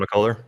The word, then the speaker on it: McCullough: Needless to say, the biggest injury for Kansas was the how do you say his name? McCullough? Yeah, Kevin McCullough. Yeah, McCullough. Yep.